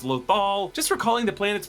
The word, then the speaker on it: Lothal: Mon Mothma calls the planet Lothol, and I just really appreciate how Filoni does this, even though it's Lothal, just recalling the planet's pronunciation from the series